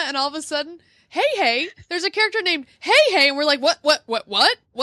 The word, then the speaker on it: Heihei: See, I wouldn't pronounce that Hey. Well, no, but I'd pronounce that Hi.